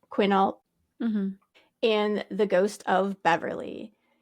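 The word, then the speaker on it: Quinault: about is the haunted kenal Lodge I think that's how you say it quinalt and the Ghost of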